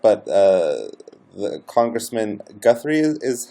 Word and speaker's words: Guthrie: if this is correct but uh the congressman Guthrie is how you pronounce his last name that's right um ran